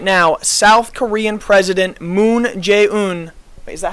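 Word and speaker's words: Moon Jae-in: South Korean President Moon Jae-un. Wait, is that how you say his name? Yeah, Moon Jae-un. I want to, if I said his name wrong, that would be bad.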